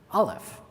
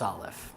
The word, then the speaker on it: aleph: of the hebrew alphabet today we can't really pronounce aleph at least most ashkenazim can't some mizrahim still pronounce the guttural of the olive it's a it's a small guttural clique and then a hasidic